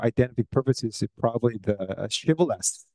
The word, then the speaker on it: Shibboleth: So the in-group people were able to pronounce as Shibboleth, like as in a ship or sheep, right? That's the kind of alveolar fricative consonants. But the another out-group people pronounce this Shibboleth as Sibboleth, as we pronounce like